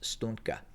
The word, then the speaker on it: Stugna: We've seen the Stugna, I believe it's spelled Stunga, but it's pronounced Stugna, and it was designed